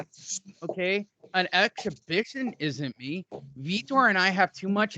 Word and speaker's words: Vitor: Met Vitor Belfort, who looked incredibly ripped for Vitor, and it's pronounced Vitor.